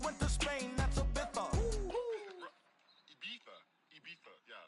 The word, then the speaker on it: Ibiza: I just went to Spain, that's a Ibiza. Ibiza. Yeah, it's pronounced Ibiza, actually.